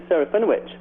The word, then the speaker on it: Serafinowicz: Yeah, Peter Serafinowicz. Yes. You pronounced it good as well.